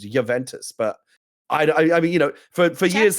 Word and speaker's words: Juventus: Anytime I've ever heard a player or a sportscaster talk about Juventus, it's pronounced with a Y rather than H. It's Juventus, but I mean, for years though, chat's saying you're right that it's Juventus.